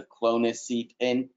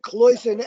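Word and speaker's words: cloisonné: that you call can't man actually be a clonic seat in i'm probably pronouncing that wrong gene jumping poison cloisonne a cloisonne pin uh i am not aware of any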